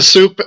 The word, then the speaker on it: Supe: I've been Soup since 1969. It's a uh it's a nickname that I acquired and I just kind of stopped fighting it and you know that's why it's spelled S U P E, right?